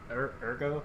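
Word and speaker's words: Urgot: Ergo? How do you say that? Ergot. I say Ergot. I've heard some people say Ergo, though.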